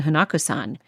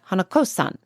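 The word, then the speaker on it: Hanako-san: now hanakusan makes and I know I'm pronouncing it wrong it's more like hanakosan I think that it's like han hanakosan but I just can't seem to make myself say it right I'm apologize but she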